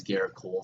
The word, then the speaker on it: Gerrit Cole: are you chugga-chugga choo-choo first name rhymes with parrot oh and his last name rhymes with pole Oh chugga-chugga choo-choo baby